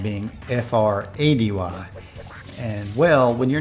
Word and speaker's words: Frady: the 70s Freddy cat I just talked about it's spelled differently my last name being fr-a-d-y and well when your name is Frady people